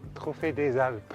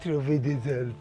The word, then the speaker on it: Trophée des Alpes: Trophée des Alpes. Trophée des Alpes.